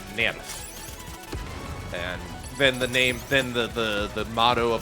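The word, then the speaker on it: NERV: But, yeah, like, when I grew up, it was like, okay, this is, like, it's German, so you pronounce it Nerf.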